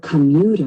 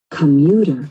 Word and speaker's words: commuter: Now we're looking for the unstressed, or the schwa sound, and that's that first syllable. Listen to it again. Commuter.